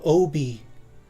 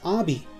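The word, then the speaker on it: Obi: he's that's my name Oh be like that's the proper way to pronounce his name but on the tape recorder jigsaw actually says ah be so even he doesn't pronounce the guy's name right I thought that was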